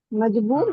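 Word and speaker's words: مجبور: मुझको मज, मजबूर हाँ, मजबूर मजबूर।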